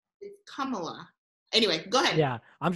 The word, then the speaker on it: Kamala: She pronounces her name Kamala. Kamala? Kamala. I think it's Kamala.